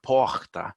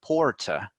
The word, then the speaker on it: porta: example the word door poha and and those in South Paulo would say porta so they pronounce the R whereas it kind of turns into an H with people from Rio de Janeiro so little differences like